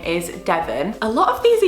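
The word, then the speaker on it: Devin: the channel Ladylike and there's a girl called Devon with an I instead of an O, so it's more like Devon, but they just say it like Devon and it sounds so cool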